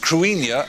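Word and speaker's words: Cruithne: As a matter of fact, Kruithna is pronounced Cuinia and it's actually Celtic and its orbit was discovered in 1997.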